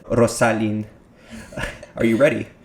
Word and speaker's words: Rossalyn: so that being said rosalind are you ready you're actually pronouncing my name right in spanish by the way awesome